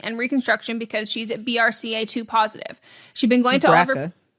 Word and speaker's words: BRCA: In 2020, my best friend got a preventative double mastectomy and reconstruction because she's at BRCA2 positive.